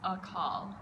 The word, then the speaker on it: Akaal: The first syllable is short, and then call is very long.